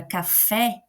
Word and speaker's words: café: Quando eu falo a palavra café, eu coloco mais força na segunda sílaba, né? Eu falo café. Fé é a nossa segunda sílaba e a nossa sílaba tônica, porque ele é a sílaba mais forte.